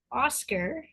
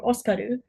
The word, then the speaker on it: Oscar: Oscar, pronounced Oscar or Oskaru in the Japanese dub of the anime, was born into the prestigious Jaget noble family.